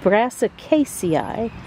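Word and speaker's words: Brassicaceae: got to scroll up and see how that's pronounced the brassic Casi the brassic Casi family uh the plants in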